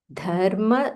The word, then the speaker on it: Dharma: Okay, pronunciation first. Dharma Setu Palakam. Dha Mahaprana.